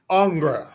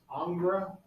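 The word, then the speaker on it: Ingres: picture over here okay our next artist is angra it's spelled i n g re s that's the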